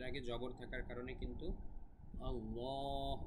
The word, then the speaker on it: আল্লাহ: দিচ্ছি আল্লাহ শব্দের আগে জবর থাকার কারণে কিন্তু আল্লাহ উচ্চারণটা মোটা হয়েছিলাম ল এবং এখানে আল্লাহ শব্দের আগে